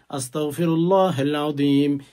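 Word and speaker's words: أستغفر الله العظيم: ছোট্ট এস্তেগফারটি হচ্ছে আস্তাগফিরুল্লাহাল আজিম ইন্নাল্লাহা গফুরুর রাহিম। ছোট্ট আসতাফিরুল্লাহাল আজিম। ইন্নাল্লাহা গফুরুর রাহিম। অনেকে আস্তাগ বলেন কাফ উচ্চারণ করেন কাফ উচ্চারণ করবেন না আসতাগফিরুল্লাহিল আজিম ইন্নাল্লাহা গফুরুর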